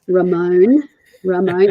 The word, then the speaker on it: Ramon: So someone like Ramon, and see, I pronounced it right. It's Ramon, even with an Australian accent, it's Ramon.